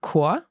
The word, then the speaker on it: Chor: There are some words where you pronounce it as a K. Mhm. So, for example, der Chor, Der Chor, the choir.